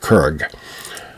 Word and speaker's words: curragh: as in curragh, and sometimes with more of a G ending, like curragh. There are multiple pronunciations for a lot of words in Ireland, but I learned it as a curragh boat.